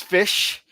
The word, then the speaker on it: Ghoti: Ghoti, as it's spelled on the screen there. It's Fish.